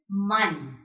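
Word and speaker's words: Mann: This is man.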